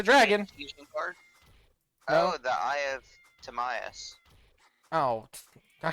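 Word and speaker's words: Timaeus: It's Tamias, Critius, and Hermos.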